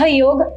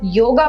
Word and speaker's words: योग: एज an Indian, भारतीय, जहाँ पे हिंदी सबसे प्रचलित भाषा है, हमें पता होना चाहिए कि सही उच्चारण योग है, योगा नहीं है।